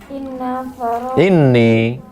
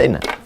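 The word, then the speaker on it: إني: Terus Anan Nabiya sallallahu alaihi wasallam qala Inni. Kalau nampak di bawah tasdid bacanya ini. Coba tengok. Di bawah. Bacanya ini, jangan baca inna.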